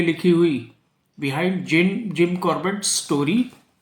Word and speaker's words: Corbett: ऐसा इसलिए लिखा क्योंकि उनका नाम तो जिम कॉर्पेट था लेकिन जो लोकल विलेजर्स थे वो कॉर्बेट प्रोनाउंस ना करके उनको अपनी लोकल लैंग्वेज में उनको कार्पेट साहब कार्पेट साहब कहकर बुलाया करते थे तो इन्हीं दोनों